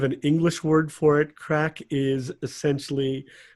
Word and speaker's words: craic: It's called craic. It is indeed. Craic. Yes, not Craig, which is how my name is spelled with a G.